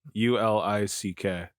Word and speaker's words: Uhlich: Is that how it's spelled? Ulick.